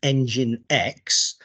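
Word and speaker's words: nginx: really so in combination with this thing that's pronounced engine X um you can you can run alongside it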